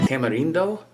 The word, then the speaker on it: tamarindo: This is tamarind, or tamarindo. The Latin countries pronounce it tamarindo.